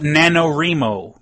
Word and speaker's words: NaNoWriMo: Do you know what NaNoWriMo means? Or someone pronounce it NaNoWriMo.